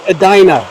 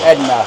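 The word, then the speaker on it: Edina: winner of this gets a Dina at 6:00 tonight so I don't want to try to correct you here but I'm pretty sure it's pronounced Edna Edna Edna at 6:00 uh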